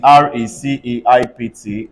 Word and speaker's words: receipt: P is silent in RECEIPT. Everybody say receipt.